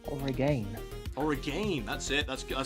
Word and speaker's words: Oregon: Is it Oregon or Origin? Oregon. Right. Just my very Scottish way of saying it. It's I think it's pronounced Oregon.